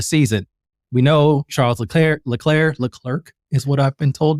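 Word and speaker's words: Leclerc: that he said specifically don't forget to pronounce the second C in my name. That's how you pronounce it. And I listened to him say his own name and he says L clerk.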